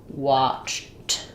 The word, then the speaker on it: watched: So you could think of it as watched. And actually I would probably write it here without this t. That makes it a little clearer. So thinking about that, your sounds are a ch and a t. Watched. I watched. So when I'm saying it by itself, it does have the t sound.